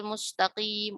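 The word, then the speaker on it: مستقيم: Sin seperti pada kata musta. Musta. Jangan sampai musta ya. Kalau orang awam bacanya gitu. Ihdinas siratal mustaqim, mustaqim gitu. Nah, sinnya itu tidak tipis ya. Makanya harus ditarik supaya dapat tipisnya.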